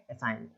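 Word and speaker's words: assign: तो एन के पहले जी आ गया तो वो जी अपना साइलेंट हो गया, केवल पढ़ेंगे असाइन।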